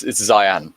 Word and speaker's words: Zihan: Oh, it's Zion. Zihan, by the way, is how it's spelled, but side point.